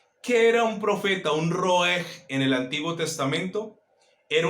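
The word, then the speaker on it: ראה: La palabra para profeta en hebreo, colóquelo por favor, se escribe roeg.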